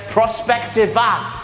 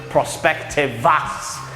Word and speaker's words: Prospectiva: Prospectiva. It said Prospectiva on the Tron, but Kennedy pronounced it Prospectivas. He stuck the S in there for no reason.